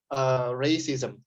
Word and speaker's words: racism: Topik kita hari ini adalah racism. Ingat kalau ada A diapit sama huruf vokal R and C ya, dalam hal ini itu diucapkannya A gitu ya. Racism.